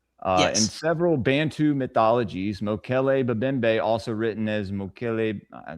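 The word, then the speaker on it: Mokele-mbembe: And have y'all ever heard of Mokle Mimbe from the Congo? Spell it for me.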